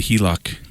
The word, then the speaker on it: HELOC: Okay, so let's talk let's start with the the HELOC. Did I say it right? Yes, you said it right. HELOC.